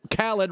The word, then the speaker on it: Khaled: over DJ Khaled Khaled rhymes with salad.